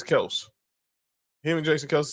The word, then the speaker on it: Kelce: Like how everyone kept saying how people still say Travis Kelce, but he says it's Kelse and Jason Kelsey says Kelse Grill.